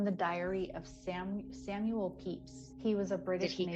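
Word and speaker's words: Pepys: diary of sam samuel peeps he was a british he created those marshmallows his last name was actually spelled p-e-p-y-s or it's pronounced peeps he was a british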